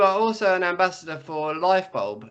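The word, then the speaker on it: Lyfebulb: also an ambassador for life bulb is that how it's said yes like yes because it's spelled l y f e b u l b yes it is um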